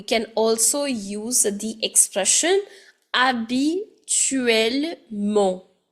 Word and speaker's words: habituellement: Now, just like généralement, we can also use the expression habituellement. Where my H is silent, habituellement.